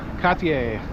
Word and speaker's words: Cartier: Cartier. That's how you say it in French, I believe.